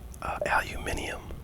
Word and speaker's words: aluminium: one, oh yeah, and another one is aluminium. Is how they pronounce aluminum, or how they pronounce the word we say aluminum. So there's like an extra I in there.